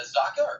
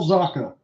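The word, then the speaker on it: Zacha: get that right right is that Zucker I don't think it is it it's Pavel zaka thank you so much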